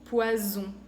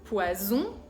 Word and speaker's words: poison: Por ejemplo, saison, poison.